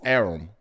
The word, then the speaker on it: Arum: I now know it's Arum.